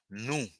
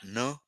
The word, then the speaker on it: nou: En créole haïtien, N-O-U is pronounced nous. Avec with the tongue in a protuberant way. Nous, not ne, okay, not ne, nous, nous, nous, nous, okay?